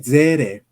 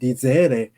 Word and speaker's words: Seele: For example, one of the most important terms of Jungian psychology is German die Seele.